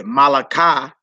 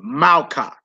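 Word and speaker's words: מלכה: You wouldn't say Malaka, you would say Malka, Malka, Malka.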